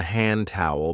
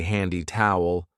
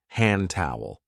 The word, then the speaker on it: hand towel: This is called a hand towel because we use it to dry our hands. And be careful of the pronunciation. We don't usually say handy towel. We link it and we say hand towel.